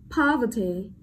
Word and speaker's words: poverty: Next, poverty, poverty, trọng âm rơi vào âm tiết đầu tiên, đúng không?